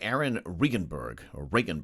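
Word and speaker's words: Aaron Regunberg: There was an op-ed piece by Aaron Regenberg, that's actually how you pronounce his name, former state rep who ran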